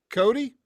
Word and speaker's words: Cote: I've watched some interviews of you, and I've heard your name pronounced two different ways. So is it Cody? Cody, yep. Okay, absolutely, man. Because I've heard some French-leaning type of pronunciations of it, which is Cote.